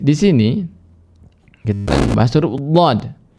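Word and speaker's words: ض: Tetapi di sini kita bahas huruf dhad. Tadi dikatakan bahwasanya jangan sampai dhad ini diucapkan menjadi huruf dal yang ditafkhimkan. Berarti bacanya makhrajnya di sana hanya saja diberi dengan sifat tafkhim. Ya, lo gitu ya.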